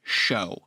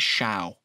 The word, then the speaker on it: Shou: i will say is in the original japanese his first name is pronounced show but in the inc uh well in the english dub they do it as shao hm so you can